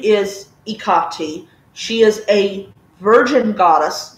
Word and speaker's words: Hecate: But what really, really steamed me off was a lot of Hellenists' views about Ikati or Hecate or Hecate. You know, there's at least, I think, like seven different pronunciations for one goddess.